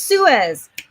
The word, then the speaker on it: Suez: yes i am talking about that suez it's pronounced suez thank you suez you guys are great okay